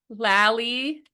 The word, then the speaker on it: Lally: So Lally rhymes with Sally.